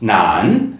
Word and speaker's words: 男: different roles the character for a man is pronounced Nan in m and Nan in Japanese now let's